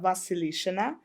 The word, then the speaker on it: Vasilishina: I have YouTube channel, Vasilishina. I think link to my YouTube channel. You might have to spell that last name.